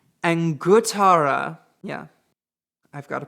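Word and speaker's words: Anguttara: the fourth one is the angur I'm sorry I said that wrong angara yeah I've got to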